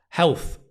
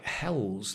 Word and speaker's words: health: Health is the first word, health, and it has that really interesting, th sound. Health. The problem is if you say health, health, it sounds like hells like Hell's Kitchen. Like Gordon Ramsey's Hell's Kitchen. Health. The tongue just touches in between the teeth.